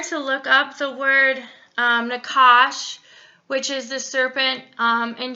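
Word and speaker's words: נחש: if you are to look up the word Nakash, which is the serpent in Genesis, if you are to look up the Hebrew word, it will actually bring you to a root word that we pronounce as Nahash, and it's Hebrew word H5172.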